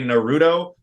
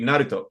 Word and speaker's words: Naruto: Japanese never emphasize the U sound unless it's a U by itself, because they have subtle U sounds. So it should, like, people who say Naruto, wrong, okay? Yeah. So it should be Naruto, right?